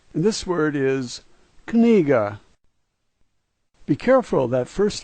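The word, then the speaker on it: книга: The fourth letter a G sound, and the last letter is pronounced as an A, and this word is kniga.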